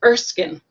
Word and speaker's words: Erskine: actually we got corrected by how we were pronouncing his name is a short eye it's erskine so i talked to my husband afterwards and